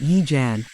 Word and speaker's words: Yee Jan: tanima keyed her microphone welcome to Yee John base she pronounced it Yee Jan I'm Dr I'm